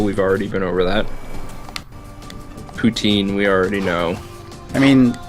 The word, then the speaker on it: poutine: Also, I don't care how it's usually pronounced in Canada because I'm American, so I say poutine. Deal with it. If I wanted to be French Canadian, I'd say poutine. Putain.